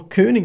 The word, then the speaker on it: Koenig: I have been following Koenig knives, or Koenig knives as you would pronounce it, if it was a German name, or if he was from Germany, since they started out